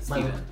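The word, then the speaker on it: Stephen: Is it Stefan or Steven? Steven. It is Steven? Steven, but it's spelled with a PH. Alright, cool. But it's Steven.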